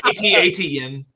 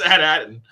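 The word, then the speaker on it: At Attin: how you say it it's not it's not at aten yeah it's at Aton it's never at at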